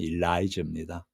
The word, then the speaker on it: Elijah: 엘엘리야 엘리야를 영어식 발음이 일라이저입니다.